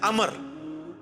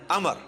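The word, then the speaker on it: عمرو: लफ्ज ही गलत है लज उमरू तो कोई लफ्ज ही नहीं है लफ्ज है अमर लिखा होता है उमरू लेकिन उसका मतलब वाओ जो है वो साइलेंट होता है और वाव का मतलब यह है कि आपने इसे पेश की बजाय जबर से पढ़ना है उमर की बजाय पढ़ना है अमर तो हजरत अमर बिन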